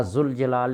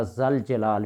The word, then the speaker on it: ذوالجلال: اصول ہے۔ اسی طرح یا ذوالجلال نہیں پڑھیں گے، یا ذل جلال پڑھیں گے۔ تو پڑھنے کے اندر